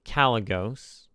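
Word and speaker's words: Kalecgos: haven't been saying the names right away so calos is how you pronounce it and it's a dragon which means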